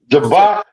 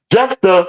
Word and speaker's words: Jephthah: Jabba, I think it's Jabba. Is it Jabba? I spell it. Jephthah out of the land of Tob. Jephthah.